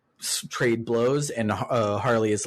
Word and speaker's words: Harle: and we encounter uh harley her name is spelt like uh marl but it's pronounced harley because she's literally a harlequin and uh she's like